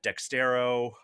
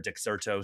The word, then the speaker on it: Dexerto: Um but you know he was at Dextero um or Dexerto, sorry I always mispronounced that.